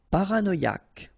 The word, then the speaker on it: paranoïaque: Paranoïaque. Okay, remember, Q-U-E, K, paranoïaque. Paranoïaque.